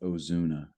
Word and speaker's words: Ozuna: charge after their arrest his name is pronounced Ozuna oh Zuna there we go